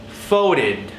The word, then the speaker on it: folded: Now, for folded, same ending. Id. So we would say folded.